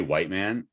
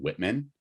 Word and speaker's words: Whiteman: And as odd as it is, I say Whiteman, and I know that seems like I'm mispronouncing Whitman, but like the first day I met him, I called him Officer Whitman, and he said it's Whiteman.